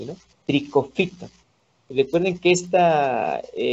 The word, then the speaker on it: Trichophyton: Está el género Trichophyton, ¿sí? Esta sílaba PHY se pronuncia como F, ¿no? Trichophyton. Recuerden que esta sílaba, CHO, no se pronuncia como cho, ¿no? Trichofito, no, se pronuncia como tricofito, Escherichia, pseudoalescheria, ajá.